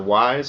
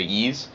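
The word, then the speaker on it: Ys: in the e's series or wise however you pronounce that i usually say ease this one is ease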